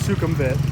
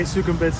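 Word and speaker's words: Sukhumvit: down the main road main road is sukum vit you know I say it like that in case there are people who are not at all familiar with Bangkok but then I say sukum bits so people who are familiar also have a an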